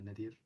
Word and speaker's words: Nadir: I'm Nadir. That's how you pronounce my name.